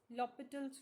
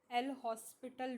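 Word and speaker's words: L'Hôpital: एल हॉस्पिटल rule. This is नॉट अ हॉस्पिटल rule. It's लॉपिटल rule. यहां पे जो एच होता है वो क्या होता है चिल्ड्रन? साइलेंट होता है।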